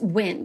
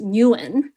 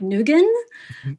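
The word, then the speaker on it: Nguyen: the surname yuin is isn't pronounced win like it is in America it's pronounced Newen um and then we would butcher it further sometimes for fun by calling them like nugen um so like we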